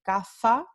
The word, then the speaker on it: caza: Entonces, vamos a tener una diferencia entre caza, esta primera palabra, hunt, se va a pronunciar con la interdental sorda, y casa, esta segunda palabra, se va a pronunciar con la fricativa alveolar sorda.